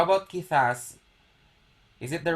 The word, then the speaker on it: quizás: How about quizás? Is it the right okay, Leslie. Okay, Leslie is right. Okay. Correcto. Quizás. Con acento en A.